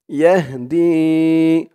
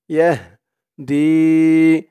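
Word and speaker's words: يهدي: ল, হা, ওয়ালাকিন্নাল্লাহা ওয়ালাকিন্নাল্লাহা ইয়াহদি, ইয়া দিয়ে হা ধরবে, yeah yeah দি, দি একালিফটান জেরের পরে ইয়া সাকিন, ইয়াহদি।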